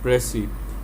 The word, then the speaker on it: précis: प्रेसी और इसकी अगर डेफिनेशन हम देखें तो the word प्रेसी is derived from the French प्रेसी एंड is pronounced in English as प्रेसी।